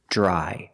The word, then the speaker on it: dry: talk about pronunciation remember Dr together makes a j sound like juice and jump J j dry I change the verb